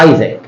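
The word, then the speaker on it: Isaac: نيوتن اسحاق نيوتك وهي اصلا بتتنطق بره ايزاك اسحاق دي بينطقوها ايزاك مش اسحاق اصلا نعم طيب طيب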